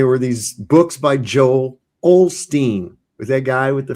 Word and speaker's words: Osteen: It's like, well, where'd the L go? Why is the L not there?